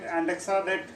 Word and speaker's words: andexanet: The factor 10A inhibitor, the antidote is andexanet. You can pronounce it as AN, dexa, that is dexamethasone, and net.